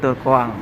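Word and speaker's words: Tourcoing: Nih, jadi kita di Turkoang sekarang mau ke Lille Flong yang ini jam 18.17. Ini nama kotanya Turcoing, dibacanya Turkoang.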